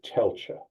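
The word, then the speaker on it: Tailtiu: and his stepmother whose name I can never pronounce. So Kyler, what is her name? Tela.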